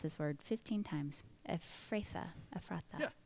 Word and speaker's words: Ephrathah: May you have standing in," I have tried to pronounce this word 15 times, Ephrathah. Yeah, Ephrathah, that's it.